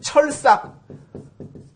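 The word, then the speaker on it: 鐵索: 요 찾을 색자 같은 경우도 뭐 색인, 사색 그럴 때는 찾을 색으로 읽지만은 그 철삭, 쇠철자 약자 이렇게 쓰죠. 철삭이란 단어 같은 경우에는 요거를 동아줄 삭이라 그래가지고 동아줄이라는 의미일 때는 삭으로 읽습니다.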